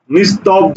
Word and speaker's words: নিস্তব্ধ: নিস্তব্ধ, এটার উচ্চারণ লিখো, নিস্তব্ধ, উচ্চারণ লিখো।